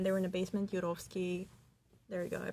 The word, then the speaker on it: Turovskiy: He took the family down to the basement, and when they were in the basement, Turovskiy There you go. I pronounced the name for you.